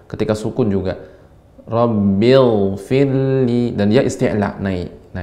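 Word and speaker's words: رَبِّ اغْفِرْ لِي: Ghain ini dia mengalir, ya, rakhawah, sehingga pengucapannya Rabbil firli.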